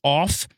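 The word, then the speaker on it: עוף: Well, in the Hebrew, it is OWP. It's pronounced off, and it's literally translated flying creatures.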